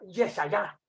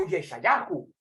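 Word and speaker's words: ישעיהו: Una teología que ya Isaías predicaba con su mismo nombre, que en hebreo se pronuncia Yeshayá o Yeshayahu, Isaías.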